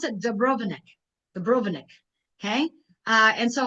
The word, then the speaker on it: Dubrovnik: How do you pronounce it? Dubrovnik.